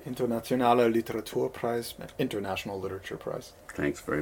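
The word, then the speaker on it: Internationaler Literaturpreis: you're gonna have to help me on the pronunciation Internationale Literature Prize International Literature Prize thanks very much okay and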